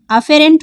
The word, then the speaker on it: afferent: अभिवाही धमनिका जिस धमनिका द्वारा ब्लड अंदर आता है, अभिवाही, इसकी स्पेलिंग AFFERENT अफेरेंट होती है।